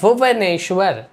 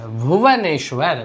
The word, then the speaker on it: भुवनेश्वर: अब हम लोग यहाँ पे है भुवनेश्वर। भुवनेश्वर, भुवनेश्वर नहीं बोलते हैं, भुवनेश्वर बोलते हैं, भुवनेश्वर। तो देख रहे हैं वाह को हम वाह जैसा ही उच्चारण कर रहे हैं, बा जैसा नहीं कर रहे हैं।